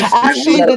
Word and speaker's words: Tsushima: If it's Tsushima, the T is Royal. Only Royal knows how to pronounce that shit.